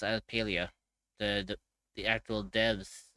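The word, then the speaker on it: Palia: Yeah, I'm going to be playing Paleo tomorrow. So, I love how I still love how we have two different ways of pronouncing that. Well, technically it's actually it's actually pronounced as Pelia.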